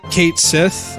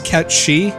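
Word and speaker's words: Cait Sith: then I really like Kate Sethe I don't know I I know that the way to technically pronounce his name I think is ketch she or some like that but it's Kate's if we're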